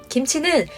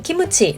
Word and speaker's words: 김치: 선별적 비난이 필요하다고 봅니다 한국어로 말할 때는 김치 라고 발음하고 일본어로 말할 때는 기무치 라고 발음하면 되는데 반대가 되면 안된다는 이야기입니다